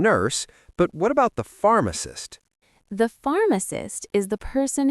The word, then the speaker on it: pharmacist: You know doctor and nurse, but what about the pharmacist? The pharmacist is the person who prepares your medicine. Remember, the PH in English sounds like an F.